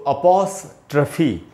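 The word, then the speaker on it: apostrophe: तो इसको पढ़ेंगे दोस्तों अपोस्ट्रफी, इसको अपोस्ट्रफी ऐसे नहीं पढ़ना चाहिए, पौ में जो ओ है उसी पर ज़्यादा देर तक रुकना है, और ट्रफी है, ट्रॉफी नहीं है, तो हम इसको पढ़ेंगे अपोस्ट्रफी।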